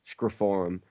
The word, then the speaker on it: Scream 4: with um Square Forum because that's how Scream 4 is meant to be pronounced is screiform okay um I picked